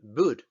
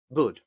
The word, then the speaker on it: boot: U larga, como por ejemplo en boot. Y vuelvo a repetir. Tenemos una doble O que se pronuncia con una U corta y aquí tenemos también una doble O que se pronuncia como U larga.